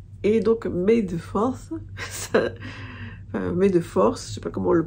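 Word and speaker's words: May the Fourth: donc mes deux forces mais de force je sais pas comment le prononce ça se prononce comme oui comme B2 force ça se prononce comme mes efforts qui est donc la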